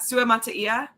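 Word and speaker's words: Suamataia: And then we had Kingsley, which I found out how to pronounce his last name. I did too. Sua Mataia.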